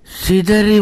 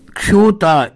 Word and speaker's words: க்ஷூதா: இவ்வாறு உரத்த குரலிலே கூவி அந்த கிருத்திக தேவதையை துதித்தவாறு சிதறி ஓடினார்கள் கனகத்வச மன்னனினுடைய மெய்காப்பாளர்கள். பவியர்களே, இங்கே சீதா என்று உச்சரித்திருக்கிறேன், அது தவறு. க்ஷூதா என்று சொல்ல வேண்டிய சொல் அது.